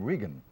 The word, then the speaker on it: Regan: of the party and he pronounces his name Regan it's Donald Regan and he's the he's